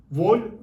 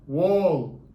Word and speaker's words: wall: ben nasıl okunduğunu söyleyeceğim vol duvar demek okunuşu vol diye değil Şimdi okunuşunu telaffuz edecek kalın Wall diye okunuyor Bunlar Tabii bir taraflarından